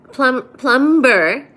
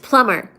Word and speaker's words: plumber: Plumber is pronounced plumber.